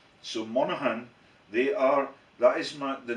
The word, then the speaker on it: Monaghan: How do you pronounce that? Monaghan. So Monaghan, that is the name of my sister's earliest